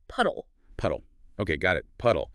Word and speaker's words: PUDLE: That's p u d l e, but it's pronounced puddle.